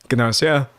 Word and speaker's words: Gnosia: That's how they pronounce it uh in the show. Ganosia.